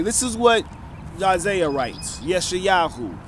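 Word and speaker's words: ישעיהו: is what Isaiah writes yeshayahu his Hebrew name the proper name to pronounce Isaiah is yeshayahu okay which means the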